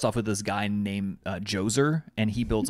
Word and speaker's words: Djoser: And the old kingdom, which comes right after, starts off with this guy named Djoser, and he builds like the step pyramids. Djoser. Yeah. Djoser, spelled with a D-J-O-S-E-R.